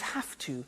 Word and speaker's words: have to: pronunciation I have to notice I don't say V I say F have half it becomes half to have the two becomes